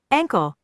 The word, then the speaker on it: ankle: calf pantorrilla number 34 uncle which sounds like uncle but no it's with a uncle right ankle uncle that's why i don't